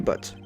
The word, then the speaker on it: Butz: name of the defendant Larry Butz rhymes with hairy butts correct good next murder